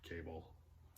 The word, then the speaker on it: Cabal: I'm assuming it's pronounced Cabal, not Cable.